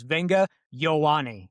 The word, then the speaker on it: Olaivavega Ioane: So, it's Venga Yawani is how you say his name according to him.